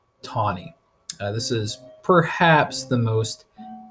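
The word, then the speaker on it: Taney: tawny it spells that you'd think it'd be pronounced tini but it is in fact pronounced tawny this is perhaps the most infamous Supreme Court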